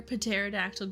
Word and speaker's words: pterodactyl: specific circumstances and desires that's right the p is silent why can't you hear pterodactyle go p is cuz